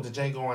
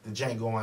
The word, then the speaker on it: Django: He said, "DJango." The D is silent. The guy that he said that to, that's Franco Nero. That's the guy from the original DJango Unchained.